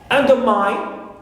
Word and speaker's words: undermine: Undermine. So mine also is third syllable and it contains the diphthong I. That's why it is stressed.